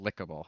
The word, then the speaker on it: Likeable: So Or it's pronounced Lickable, actually.